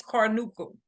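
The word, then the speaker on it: carbuncle: Acne surgery, abscess, carmuncul, boil. Some people pronounce it, but the correct pronunciation for this is carnuncul.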